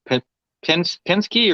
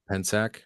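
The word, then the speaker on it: Pensak: hello deep i think i always say your name wrong pin penske or panasker um eric how would you say p-e-n-s-a-k pensack and zach okay yeah i'm not too good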